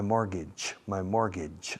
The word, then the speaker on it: mortgage: My mortgage, mi hipoteca. Mortgage escrito, se pronuncia mortgage.